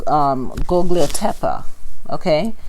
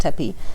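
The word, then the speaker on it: Göbekli Tepe: series was worshipped by Gogliotepa, so that's Gobekli. The second word, Tepi, I'm assuming it's pronounced Tepi, Tepe, and I thought that Tepi, it's a short sound, but it's not the same word as the Dogons.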